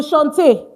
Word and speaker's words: chant: It's not chant, it's chant. Because French AN is pronounced on.